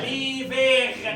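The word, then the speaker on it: l'hiver: ركز معايا اسمع صوتك ليفي ليفي انا بنطق الار هنا بقى ليفير ليفير لي فيغ لي فيغ الشتاء ليفير الشتاء ليفير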